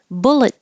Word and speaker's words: bullet: Bullet trains. Now, bullet is like an adjective, so that's more likely to be emphasized. And the first T, bullet, you just hold it, bullet.